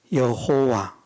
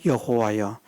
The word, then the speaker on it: 여호와: 그네 가지가 하나는 여호와 그 한글 성경의 여호와로 번역이 되어 있죠. 어, 원어상 발음은 한글로 표기한다면 예호와가 더 정확한 그런 아 어, 번역이라 그렇게 볼 수 있겠습니다만은 뭐 예나 여호와 같은 말입니다.